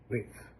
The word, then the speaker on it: with: not TH or th it's not unvoiced th it's a th sound